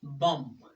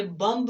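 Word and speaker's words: bomb: जैसा कि बम, ये बम्ब नहीं है बल्कि बम, क्योंकि M के बाद B है तो B को प्रोनाउंस नहीं करेंगे जब M के बाद B हो।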